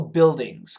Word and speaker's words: buildings: Commercial buildings. Commercial. C-O-M-M-E-R-C-I-A-L. Commercial buildings. And not buildings. Get the pronunciation. Buildings. Buildings. B-U-I-L-D-I-N-G-S.